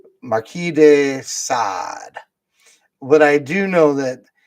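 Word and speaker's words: Marquis de Sade: names I don't know I'm pretty sure Marquee is Right Marquee de sad but I do know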